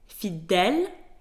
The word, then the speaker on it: fidèle: fidélité, which means loyalty, you will see that in the word fidèle, the E has an accent grave, so it is pronounced E, fidèle, and on the word fidélité, the E has an accent aigu.